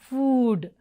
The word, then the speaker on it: food: now let us see how this long o is pronounced as in food challa look wrong pronunciation vineyard especially e word food so this is food not food but food food okay so let us